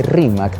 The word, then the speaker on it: Rímac: el quechua hablante costeño, la pronunciación de Rímac, la letra R, es como si dijeran con la letra L.